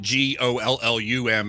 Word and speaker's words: Gollum: I've actually almost always pronounced it like the Tolkien ring guy. I pronounce it Gollum, even though it's Golem.